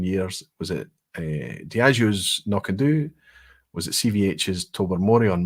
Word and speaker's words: Knockando: Some people pronounce Knockandoo. It's all about accent, but I think Knockandoo would be right because it's exaggerating the second syllable.